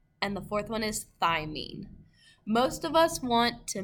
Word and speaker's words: thymine: The second one is cytosine, the third one is adenine, and the fourth one is thymine.